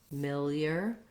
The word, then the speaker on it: familiar: i also generally recommend if a word has second syllable stress start on the stressed syllable and build it from there because that will help you get the rhythm so familiar familiar that